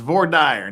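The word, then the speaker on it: voir dire: of I told you I told you that's how we pronounce it out West nobody ever believes me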